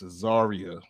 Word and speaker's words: Azariah: to pronouncing the name because I know someone with a similar name, with the same spelling, but pronounced differently. So it's like, okay, I can't say it that way. It's Azariah, not the other way.